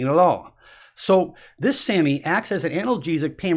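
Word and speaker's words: SAMe: Okay, the first one is called Sammy. Now, just like the word Sammy, but this is pronounced S-A-M, small e. They say it's Sammy, and this particular nutrient acts as an analgesic, as a pain reliever.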